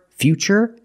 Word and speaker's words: future: that's right it's ch because we see t-u-r-e we pronounce the T as ch and we see t-u-r-i in futuristic again the t is pronounced with the CH sound so the first word future and the second word